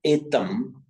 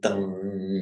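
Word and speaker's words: etaṃ: Here you see a very good example that etam, it's pronounced there as a pure M because it's followed by another M, etam mangalam uttamam. And if it's followed by a vowel, it's also pronounced as a man. That's why here, etam mangalam uttamam, the Thais could slip into pronounce it etang mangalam, but the Indians wouldn't like that, and the Sri Lankans, the Sinhala speakers wouldn't like it either.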